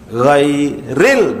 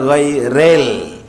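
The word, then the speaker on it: غير: Ghairil, bukan giril, bukan rel, ril, tidak ada "rel," rel, rel, rel, rel, itu untuk kereta api.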